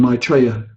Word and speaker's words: Maitreya: the name is spelled ma T but he pronounces it my player in Maitreya then his frequency Maitreya then King appeared to